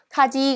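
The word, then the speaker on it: 火事: 자, 저 아이는 지금 화제이기 때문에 카라고 읽어주셔야 돼요. 자, 그렇다면 정답은 2번이 되겠네요. 그렇죠? 카지 그러면 화재라는 뜻이네요.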